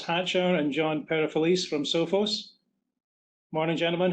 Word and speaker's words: Sophos: Is it Sophos or Sophos? Sophos is the correct. That's the correct pronunciation.